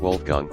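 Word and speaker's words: Wolfgang: Americans deem this name cool while here it's pronounced very differently to the English wol German V alha think wolgang and is like the most typical math teacher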